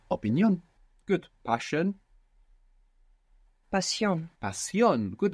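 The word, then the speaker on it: opinión: we have opinion and in Spanish you're going to pronounce syllable by syllable making sure that you're pronouncing the vowels as they're written and you're going to put the accent on the end opinion opinion good passion passion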